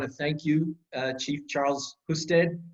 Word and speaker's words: Husted: got busted by Husted," but it's technically it's pronounced Husted, but it's fine.